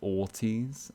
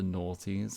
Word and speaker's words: aughties: the early 2000s 90s is called the ortiz not the naughties because i always thought it was like naughties it's in like it's but with an n but it's spelt with an a like autumn and that just bugs me